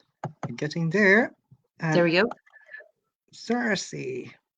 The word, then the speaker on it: Circe: Circe. So to the Joycean scholars, I hope that pronunciation is correct.